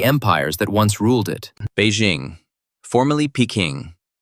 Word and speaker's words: Beijing: In Mandarin Chinese, the city's name is Beijing, meaning northern capital. Bay equals north. Jing equals capital.